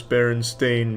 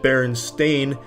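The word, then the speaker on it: Berenstain: book each week, and it was always Steen in my report. And strangely enough, I used to actually pronounce it Baron Stain, but I was constantly corrected by the teacher and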